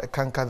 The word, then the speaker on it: Eckankar: So if you could just take us through something brief about Eckankar, the history of it, sir. Now, Eckankar is a two-syllable. The first one is the Ek. Ek. Mm. And then Anka.